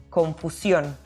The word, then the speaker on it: confusión: And same as confusion, we have an accent in the last syllable, so we must accentuate the pronunciation when we say this word in Spanish, confusión.